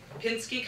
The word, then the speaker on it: Pinsky: Pinsk had a river, a sawmill, but where I grew up, Pinsky with a short I was the local name.